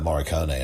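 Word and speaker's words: Morricone: excellent composing especially any of mordek own uh moricone i believe is how you pronounce his last name but also there are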